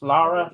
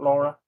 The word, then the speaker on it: Lara: So no, you and your Also, it's Lara, not Laura.